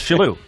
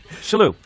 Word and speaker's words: Shillue: Today, we're with a very, very close friend of mine, Tommy Shillue. Tim Sherrod. You're pretending you don't know. It's Shillue. Shillue.